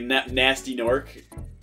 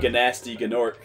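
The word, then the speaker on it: Gnasty Gnorc: It was like, I actually pronounced the G. It's like Nasty Gnork is like how you're supposed to say it, but I remember always saying it Ganasty Gnork.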